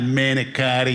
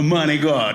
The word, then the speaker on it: manicotti: It's not manicotti, you moron. It's a manigot. It's pronounced a manigot.